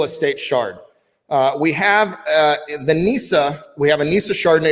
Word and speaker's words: Gnesa: We have the Nisa. We have a Nisa Chardonnay as well. Nisa is spelled Gnesa.